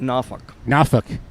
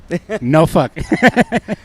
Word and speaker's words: Norfolk: We pronounce it Norfolk. Norfolk.